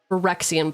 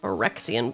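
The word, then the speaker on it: Phyrexian: Four and a Forexian blue. That's how you say it. Forexian blue.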